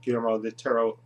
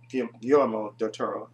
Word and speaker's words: Guillermo del Toro: the whole world that guillermo de terro guillermo del toro i said it right i want to